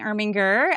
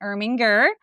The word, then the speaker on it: Irminger: My name is Irminger. I always teach my kids how to say my name, Gur like a tiger. So, Irminger.